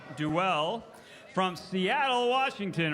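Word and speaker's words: Dowell: I'm going to try to pronounce this right. It's D-O-W-E-L-L, so Doel or Duell from Seattle, Washington, right here in hometown.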